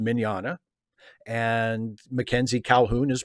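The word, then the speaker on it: Mignogna: mackenzie calhoun well vic magnana's last name is pronounced miniana and mackenzie calhoun is pronounced mackenzie calhoun and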